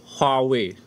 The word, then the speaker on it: Huawei: Could you tell us how to pronounce Huawei? Properly? Huawei.